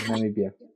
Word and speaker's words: Namibia: Africa, and then you said, I'm going to pronounce it Namibia. Yeah. Namibia.